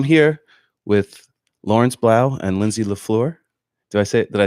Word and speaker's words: Lindsay la Fleur: So I'm here with Lawrence Blau and Lindsay LaFleur.